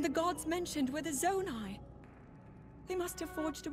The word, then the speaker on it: Zonai: Zonai, that's how you pronounce it.